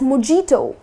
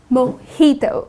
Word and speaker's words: mojito: yes it's delicious but people tend to pronounce it as mijito that's incorrect the correct pronunciation is mojito okay so instead of putting stress on the j like mijito that's incorrect you're gonna say mojito I'll have a glass